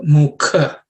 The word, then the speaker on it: mukha: In terms of pronunciation, Brahmanosya mukha. This ka is the second letter in the ka varga, so it has to be aspirated.